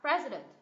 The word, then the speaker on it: president: em này không được Nhấn này xa sao president president president president pres present president president Ok